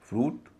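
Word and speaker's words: fruit: एफ आर यू आई टी फ्रूट उच्चारण हो रहा है उ एस यू आई टी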